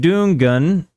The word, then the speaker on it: Dungen: The Swedish band Dungen, pronounced Dungen, thank you.